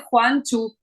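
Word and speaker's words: Gwangju: lo puse entre paréntesis se dice Juan chu Pero bueno recrea la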